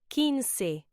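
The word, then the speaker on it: quince: more time very good the number 15 is pronounced kiny say it with me kiny okay one more time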